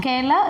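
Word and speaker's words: Gaoler: Gala is the pronunciation. It is for jailer.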